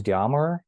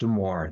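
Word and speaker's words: Demore: uh thank you Jim actually my name is pronounced deore think of the more the better so good French name so my name is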